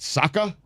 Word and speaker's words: Saka: You certainly added at least two syllables. Is it Saka?